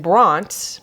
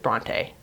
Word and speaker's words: Bronte: between san angelo and bronte side note i know it just looks like it should be pronounced bronte but i have heard every texan calls it bront just like one syllable so i'm gonna call